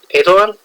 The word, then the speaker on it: Eidolon: How do I pronounce it? Eidolon. Eidolon?